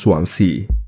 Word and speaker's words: Swansea: Now before we start, I know it's pronounced Swansea.